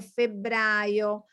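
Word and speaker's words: febbraio: january february of february remember to pronounce the double consonant genealo febrio this is difficult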